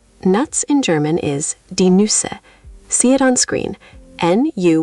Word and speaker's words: Nüsse: N-U with two dots, that's an umlaut, then S-S-E, Nüsse. The U is a rounded sound. Shape your lips like you're saying oo, but try to say E. Try it. Nüsse, Nüsse. You're getting there. That second attempt was much rounder. Nüsse.